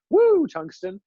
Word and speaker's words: Woo Tungsten: That's how you have to pronounce it. Woo Tungsten.